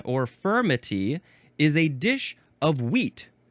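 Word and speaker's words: furmity: The second way is spelled f u r m i t y and that is firmity.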